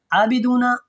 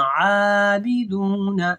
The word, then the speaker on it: عابدون: عابدون اس کو ایسے نہیں پڑھنا، عابدون.